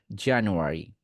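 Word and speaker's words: January: অ্যা, অ্যা উচ্চারণ করবেন, নাকের মধ্যে নিবেন অ্যা, অ্যা। আর এটা হচ্ছে র উচ্চারণ করার সময় র, র। ভেতরে উচ্চারণ করবেন যেন ঠোঁট না নড়ে।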